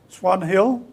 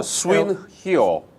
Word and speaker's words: Swan Hill: Swan Hill, Could you spell it? S-W-A-N-H-I-L-L. H H-I-L-L. I-O-O. L. So Swin Hill.